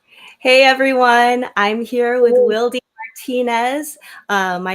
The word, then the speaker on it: Wildy: And then people just assumed that Wildy was because of wildflower, which technically it is, but it's pronounced Wildy in Spanish.